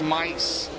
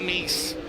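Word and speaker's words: Mise: M I S E is pronounced mice not east Wilkerson Farms Impact Electrical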